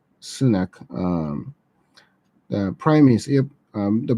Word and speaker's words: Sunak: Am I pronouncing his name right? Sunak, the Prime Minister.